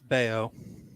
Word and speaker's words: Bayo: It's Bello Day. How about it? First of all, it's Bayo.